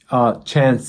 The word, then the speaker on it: Chance: Chance is the best way to address me if that's okay with you.